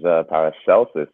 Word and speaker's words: Paracelsus: Hey guys, this is Paracelsus here. Yeah. Luke actually mispronounced it.